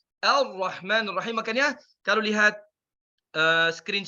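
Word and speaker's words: الرحمن: Ya, sekali lagi kita baca Ar-Rahman. Seperti tidak ada lam. Karena ini di sini lam syamsiyah. Baik. Jadi kita baca Ar-Rahman bukan Al-Rahman karena di sini lam syamsiyah la tuntaq, tidak diucapkan.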